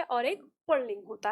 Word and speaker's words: पुल्लिंग: हैं ना पुल्लिंग, तो पुल्लिंग जैसे कहते हैं तो अक्सर हमको उच्चारण के टाइम पे इसमें पुरलिंग ऐसा उच्चारण आता है। तो याद रखिएगा, कभी भी ये पुल्लिंग र इसमें नहीं होता, ये पुल्लिंग होता है, यानी जो हमारा